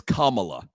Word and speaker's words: Kamala: here's the crazy thing she pronounced her name wrong 10 times just now it's kamla they they they actually